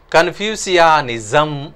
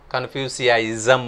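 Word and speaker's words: Confucianism: ಈತನ ತತ್ವಜ್ಞಾನವನ್ನು ಕನ್ಫ್ಯೂಸಿಯಾನಿಸಮ್ ಅಂತ ಕರೀತಾರೆ. ಕನ್ಫ್ಯೂಸಿಯಾಯಿಸಮ್ ಅಂತಲೂ ಕೂಡ ನಾವು ಉಚ್ಚಾರ ಮಾಡಬಹುದು.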